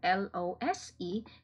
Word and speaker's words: lose: The first is, okay, this word here, L-O-S-E, is pronounced as lose. Okay, so it's with a z sound.